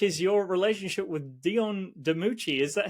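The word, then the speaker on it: DiMucci: this interview which is your relationship with Dion deuchi is that how you pronounce the surname uh yes it is yeah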